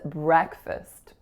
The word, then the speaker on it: breakfast: The next word is breakfast. Breakfast. The trick in this one is that F-A-S-T do not produce the word fast as if they were in isolation.